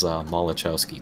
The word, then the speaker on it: Malachowski: Well, it's the USS Maxwell, so that's just the easy way to go by it, but it is Malachowski class.